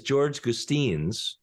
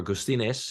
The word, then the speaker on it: Gustines: Times his name is George Gustin or gustiness if you do the proper Latin American pronunciation and he's writing a